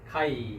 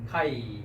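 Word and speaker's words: καὶ: 그래서 여기에 보면 이오타 위에 이렇게 grave라고 하는 액센트가 붙은 걸 보겠습니다. 그래서 내려가야 됩니다. 한번 발음해 보시겠습니까? 네, 카이 그죠? 카이 내려가야 되겠죠? 카이.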